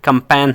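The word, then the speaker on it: campaign: जो है साइलेंट है जी दो जगहों पे साइलेंट होता है जब इसके सामने एन हा जाए तो वहां पे साइलेंट होगा या जब उसके जी के सामने जी से पहले आई आ जाए वहां पे भी साइलेंट होगा जैसे कि कंपेन है ठीक है वहां पे जी के सामने हाई है तो वहां पे जी साइलेंट है ठीक है अच्छा उसने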